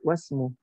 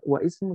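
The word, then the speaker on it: وَاسْمُ: Ismul waladi Muhammadun wasmul binti, wasmu. Bacanya wasmu, jangan wa ismu, tidak. Yang benar adalah bacanya wasmu.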